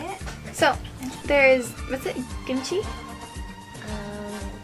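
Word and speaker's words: kimchi: so there's what's it gimchi um gimchi is how you say it though gimchi gimchi okay how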